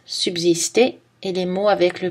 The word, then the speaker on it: subsister: Le S se prononce Z dans Alsace, subsister, et les mots avec le préfixe trans.